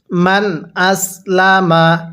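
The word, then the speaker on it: من أسلم: কিভাবে পড়বো বালা এরপরে মান আসলামা তাহলে বালা মান আসলামা নুন সাকিনটা স্পষ্ট করে পড়বো কারণ নুন সাকিনের পরে হামজাটি হলো ইজারে হরফ তাহলে বালাম আসলামা এরপরে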